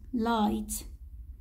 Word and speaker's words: light: light هون الجي اتش سايلنت. light تكتب ولا تلفظ.